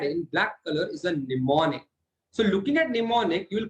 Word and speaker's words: mnemonics: So in assembly language consists of mnemonics. This M over here is silent.